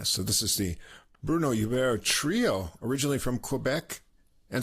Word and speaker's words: Hubert: But now that he's in Vancouver, maybe he's Bruno Hubert. Canadians are probably more sensitive to that, having a French-speaking province there. So I guess I'll go with the French pronunciation of his name.